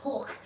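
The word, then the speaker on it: Hoek: i always pronounce a hoeic hey joe ek the proper dutch pronunciation is hook so that's how they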